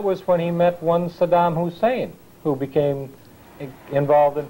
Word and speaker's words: Saddam: Well, George was always a business partner of Saddam, and he claimed he didn't know him, so he deliberately, when he was on camera, he always mispronounced his name. He always called him Sodom, as though he were